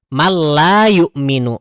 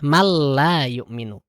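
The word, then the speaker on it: مَن لَا يُؤْمِنُ: Man la yu'minu. Man la. Nun sukun ketemu lam, idgham bila gunah. Man la yu'minu.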